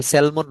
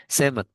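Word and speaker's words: salmon: তারপর হচ্ছে একটা ফিমেল ফিমেল সেভেমন ফিশ এটা সেলমন না হ্যা এল এর উচ্চারণ কিন্তু হয় না সেমন এ সেমন ফিশ ও কতটা ডিম পারে দেখোথ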